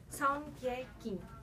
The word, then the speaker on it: Seongkye Kim: Em português a gente pronuncia Seong-ge Kim.